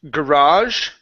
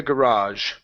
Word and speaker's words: garage: word here is pronounced garage and hear the word is binoculars okay so binoculars in the garage the Negev in the groove ah garage put the stress on the end binoculars in the garage